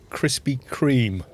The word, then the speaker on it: Krispy Kreme: this one's come out a funny shape it's pronounced krispy kreme is it i should spell it properly then